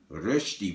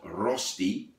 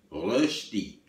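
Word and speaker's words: Rösti: Rosti, which is a Swiss potato dish, not Rosti, as I heard it pronounced. It's got 2 dots on the O, Rosti.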